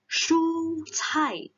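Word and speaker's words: 蔬菜: Ingat, SH, 蔬菜.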